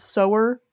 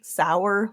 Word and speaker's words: Sower: admit I'm pretty sure that the title is sewer because it's about sewing seeds I figured out partway through reading it but when I was first looking at the title I definitely thought it was like sour like rhymes with Tower or bower for no